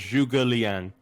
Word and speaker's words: Zhuge Liang: It's pronounced Zhuge Liang.